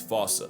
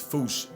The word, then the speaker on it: Fossa: If it's Sir Attenborough or the Wild Thornberrys, it's Fossa. And if you want to feel better than everyone, it's foosh. Now, another reason the Foosh